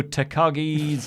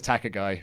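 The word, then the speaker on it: Takagi: out to pronounce shingo takashi name properly every time I can't take a guy yeah he says tak a guy yeah how many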